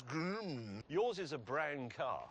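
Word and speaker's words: GRMN: It isn't Grimina, there's no at the end. It says Grim.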